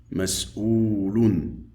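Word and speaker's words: مسؤول: Ici, nous avons la hamza au-dessus du waw qui donne le son ou avec la dhamma. Ou. Mas'oulun.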